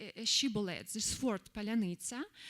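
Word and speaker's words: паляниця: Palanita in Ukrainian language means uh like ro bread and ro of bread and Russian simp simply cannot pronounce it cor correctly. Even Ukrainian Russian speakers can pronounce it correctly and say palanita but Russians cannot like uh use this soft and hard syllabus to together at all.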